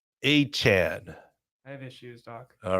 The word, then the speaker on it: Achane: One of the top fantasy running backs, Devin, Achane. No. Achane.